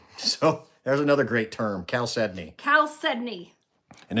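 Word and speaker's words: chalcedony: new too caly so there's another great term cal sedney cal sedney and it's yeah people will say chaldon and a few other things but it's pronounced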